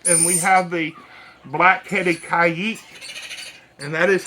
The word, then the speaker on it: caique: put the back and we have the blackheaded kayek and that is how you pronounce the name Kay some people say Kik